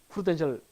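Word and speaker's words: Prudential: 프루덴셜일까요? 푸르덴셜일까요? 영어로는 이렇게 쓰죠. 어느 게 맞을까요? 앞에 게 이제 맞는 게 기본이겠죠. 근데 우리나라 사람 발음할 때 이 프루랑 푸르를 잘 구분 못해요.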